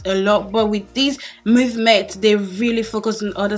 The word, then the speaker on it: MVMT: empty empty the subtle corny but it's actually pronounced movement and they are watching Brown and it's my